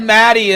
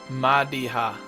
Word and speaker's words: Madiha: Everyone pronounces it wrong. I almost just said Maddie and then I was like whoa whoa whoa whoa. It just kept going. Let's go talk to Madiha.